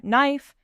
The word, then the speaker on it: knife: Letters lie. They really do, like the word honest. The H is silent, or knife, or island.